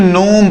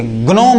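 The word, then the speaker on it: gnome: ये जी साइलेंट है। इसे हम क्या पढ़ेंगे? नोम पढ़ेंगे। क्या पढ़ेंगे? नोम पढ़ेंगे। गनोम मत पढ़ना। गलत हो जाएगा।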